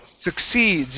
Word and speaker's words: succeeds: be Su seeds so the first C is a k sound su su okay the next C is an S sound seeds succeed seeds okay